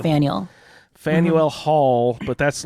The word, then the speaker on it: Faneuil: Faneuil Hall. Faneuil. Like Samuel, but Faneuil.